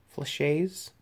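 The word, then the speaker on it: flechettes: Dragon's Breath rounds and flash a flash a is I think that's what that's called flush A's that's the right way to say it it's just [ __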